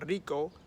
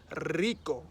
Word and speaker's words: rico: know he might say one word like rico which is rich then he might actually make that sound a lot longer so he'll be like rico then if he uses